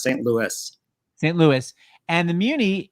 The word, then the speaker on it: St. Louis: I never know which one they want to pronounce it. Like it's St. Louis. The S, St. Louis.